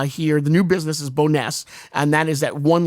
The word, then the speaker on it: Bonesse: I I don't know how to pronounce it, but it's it is Boness. Bon, you're right. That's what we think it is. All right, that's right. Boness.